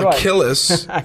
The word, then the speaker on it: Akeyless: special guest odette har evan yeah yeah from achilles like achilles is it spelled achilles like achilles